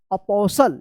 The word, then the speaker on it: apostle: अपोसल। क्या पढ़ेंगे इसको? अपोसल। अपोसल, टी साइलेंट रहेगा।